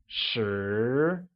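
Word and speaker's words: 十: 10 becomes shí and is pronounced with a mid-rising tone, like shí.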